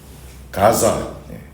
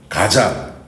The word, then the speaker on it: 가사: 차가 있어요 뭐가 있어요 가사라는 지역은 헬라어 발음으로 가사 가자 지중의 연안에 지금 분쟁중인 가자지구 아시죠 거니다 구약에서는 블레셋의 하나님